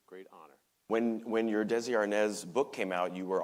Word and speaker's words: Arnaz: And Arnaz is more like Arnaz than Arnez.